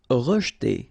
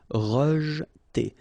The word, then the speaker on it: rejeter: Rejeter. Okay, so here the E is not really pronounced, so you get rej. Okay, so E pronounced like E. Rejeter.